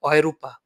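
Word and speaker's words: Europa: দেখেন ইউরোপের লোকেরা কিন্তু এটাকে ইউরোপ বলে না, ইউরোপের লোকেরা এটাকে বলা হয় অয়রূপা, অয়রূপা বলে।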